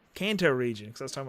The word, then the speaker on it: Kanto: Um I at one point I said KTO region and I was like it's Kanto Kanto region because I was talking about Pokemon KTO.